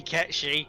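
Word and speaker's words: Cait Sith: It better be Ketchi, because that is correct, and it will piss so many people off, and I can't wait!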